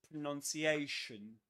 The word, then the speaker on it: pronunciation: So we say pronounce pronounce and pronunciation pronunciation. And something else another curiosity about pronunciation is that pronunciation is a doublestressed word. Which means that there are two accents, two accented syllables.